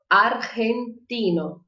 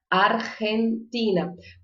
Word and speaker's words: argentina: empina empina a frente a nacionalidade não é diferente mas a pronúncia é diferente e não é uma pronúncia muito fácil eu quero que vocês tem que falar aí de casa argentina argentina porque não é uma promoção que faço porque ela desce pronúncia que mistura o r com o j são do j ou g aqui na garganta estava dizer ar sem